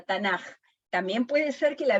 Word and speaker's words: Tanaj: Como la K se pronuncia J, ahí la tenemos con J, Tanaj.